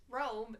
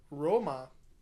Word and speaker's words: Rome: he kept saying Roma, and the dude's like, no, it's Rome, and then he goes, Rome, and like super emphasizes it to be like, I'm saying it right. I don't know, it's funny because, like, Roma is how you would say it if you're from Italy.